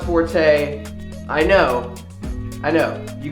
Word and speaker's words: Forte: mistake I'm sorry but it's called Forte not for it I can't even believe